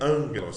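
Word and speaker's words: ἄγγελος: Gama é o nosso G do grego, é pronunciado como ni, quando precede imediatamente kappa e ki, ou outro gama. Por exemplo, a palavra angelos se pronuncia angelos, tá aí, ó.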